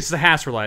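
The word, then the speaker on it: Sahasrahla: naming everyone Bob like it's actually Sahasra light it's not that hard to say but I just call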